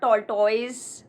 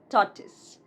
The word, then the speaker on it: tortoise: This one is not tortoise, but tortoise.